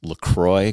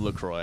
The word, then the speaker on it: LaCroix: opposite direction right now i love lacroix actually lecrae or lacroix look for both okay it's a french pronunciation i think it's important